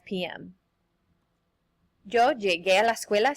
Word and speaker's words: llegué: Llegué. Notice that I put the U there for the pronunciation, or else it would sound like llegué.